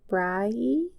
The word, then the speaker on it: Brigid: one of the goddesses, it's spelled like Brigid, but I think I was told it was Bride.